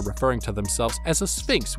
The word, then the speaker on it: Sphinx: to themselves as a sphinx with a P and not an F sound, which means that they are pronouncing it in the Greek way, and this matters, because